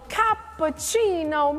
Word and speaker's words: cappuccino: your fair share of cappucino moments now I admit it helps to be Italian to say it like that everybody ready together capucino exactly and from this